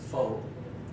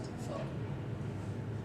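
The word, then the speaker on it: phở: servings of beef noodle soup collo known as faux although it's actually pronounced F everybody say good it's our number one export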